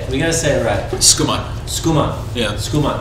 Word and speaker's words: Schoeman: Schoeman. Yeah. Schoeman. It's very fast. I've been called Schumann, Schumann, Schoeman, Showman. I always want to go to Schumann.